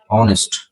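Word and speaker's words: honest: আবার অনেস্ট, এখানে প্রথম উচ্চারণ সরিয়, তাই অ্যান, অনেস্ট, অনেস্ট, অনেস্ট, এরকম হবে।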